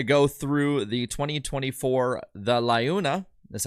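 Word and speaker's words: LiUNA!: So we are going to go through the 2024, the Laguna.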